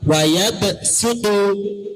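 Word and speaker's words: وَيَبْسُطُ: 1, wayabsutu, tulisannya harus dibaca sin.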